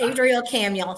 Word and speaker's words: Adrielle Camuel: had it this time it's Adriel camuel like Samuel Adriel camuel nice to meet you